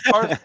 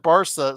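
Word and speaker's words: Barça: Barca.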